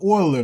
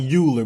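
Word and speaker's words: Euler: out you actually get an approximation of the oiler number so it looks like uler but it's actually pronounced Oiler so um that always that's already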